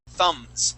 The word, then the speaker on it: thumbs: uh this is two thumbs up okay so this word here uh that b is silent the word is thumbs thumbs please repeat that